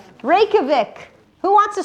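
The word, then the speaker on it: Reykjavík: Is it Reikovic? Reikavik. Who wants to spell it?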